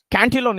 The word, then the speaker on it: Cantillon: The pronunciation is the Cantillon is the correct pronunciation. I will spell out for you: CAUTINNO. TILLON. That is the correct spelling, and its pronunciation is Cantillon.